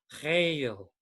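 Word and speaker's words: chayil: know the word it the word sounds like that is a vegetable green vegetable it's often added to cells called kale so it's almost sounds like that only the first syllable you have to kind of clear your throat so hail it's like c-h-a-y-i-l uh the hebrew kind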